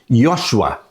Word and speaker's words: Josué: O nome Josué no Antigo Testamento se pronuncia como sendo Yosua.